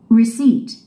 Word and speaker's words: receipt: Receipt. Receipt. 이음절에 스트레스가 있습니다. Receipt. 이때 P가 있는 알파벳 철자 P가 있는데요. P는 묵음입니다. Silent죠. 발음해서는 안됩니다. Receipt가 아닙니다. Receipt. 그렇게 발음하면 안됩니다.